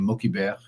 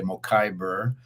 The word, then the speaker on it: Mokhiber: And so I always tell people there's no way to mispronounce it. It is a global name, and you can feel free to pronounce it any way that you like.